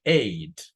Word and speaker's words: ate: El pasado se pronuncia ate. Se pronuncia igual que el número 8. ¿Cómo pronuncian el 8? Ate. Y así mismo se pronuncia esta palabra.